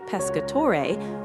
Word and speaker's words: Pescatore: the valley up to the beautiful Pescatore, pronounced Pescatore, park in the upper town.